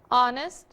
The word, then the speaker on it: honest: Porque eu falei para vocês, alguns poucos casos o H não tem som de como em hotel, mas é mudo, como em honest ou mesmo hour. Vamos ouvir? The honor, the hours.